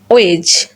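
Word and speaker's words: wedge: যখন আমরা দেখব ডি লেটারের পরে জি লেটার থাকবে তখন ডি সাইলেন্ট থাকবে। যেমন জাজ, ব্যাজ, হেজ, ওয়েজ অ্যান্ড এজ। এই লেটারগুলো যদি আমরা লক্ষ্য করি দেখব ডি এবং জি একই সাথে থাকার কারণে এবং ডি এর পরে জি থাকার কারণে এখানে ডি সাইলেন্ট হয়ে গেছে।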